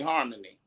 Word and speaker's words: HarmonE: then at the end we put a long e for harmony okay what we decided